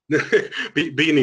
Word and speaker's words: Beaini: I think it's worth saying that is it Beaini or is it am I pronouncing this correctly, or am I making a mess of it? Beaini is fine.